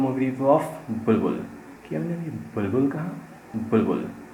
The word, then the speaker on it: बुलबुल: एंड इस movie का नाम बुलबुल है, बुल नहीं या बुल बबुल भी नहीं, बुलबुल। प्रोनाउंसिएशन के वक्त एक बी स्किप हो जाता है, लेकिन उसका इफेक्ट रह जाता है। सो बुलबुल।